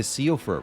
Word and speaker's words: Siofra: I think it's pronounced Shifra. It's an Irish name. That would explain the pronunciation being nothing like the spelling.